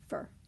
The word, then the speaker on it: for: Think of the word for, F-O-R. As soon as we put it in a sentence, it loses all of that nice pronunciation that we do as we read it in isolation, and it becomes fur. I went for coffee. Think of all the times that we say fur instead of for.